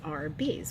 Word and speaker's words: Arby's: How old were you when you realized Arby's is just pronounced as Arby's, which is short for roast beef?